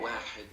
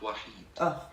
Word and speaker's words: واحد: I just need to correct something. Okay. واحد, not wahid. واحد.